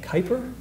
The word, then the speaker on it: Kuiper: I always mispronounce his last name. Kuiper.